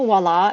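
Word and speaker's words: voilà: genes and voila voila also wallah is spelled like viola because it's French voila and viola are spelled the same so there's no W it's French and it's supposed to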